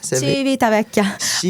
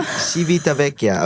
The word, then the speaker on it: Civitavecchia: Civitavecchia. I know. Civitavecchia.